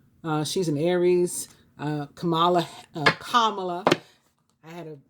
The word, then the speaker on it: Kamala: but the uh vice the vice president-elect pronounces her name kamala she's a libra was